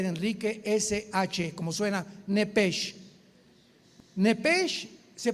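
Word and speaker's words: נפש: Apunten por favor que trajeron su Biblia arriba de la palabra alma, la palabra hebrea nepesh, como suena n de nana, e de Enrique, p de Enrique, e de Enrique, SH, como suena nepesh.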